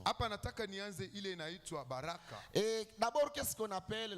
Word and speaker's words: baraka: Baraka. Baraka, ça dit B-A-R-A-K. Vous mettez l'accent là, vous mettez H.